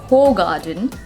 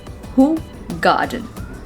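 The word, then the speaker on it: Hoegaarden: beer and the but the correct pronunciation of this word is not whole garden the pronunciation of this word is who garden who god i don't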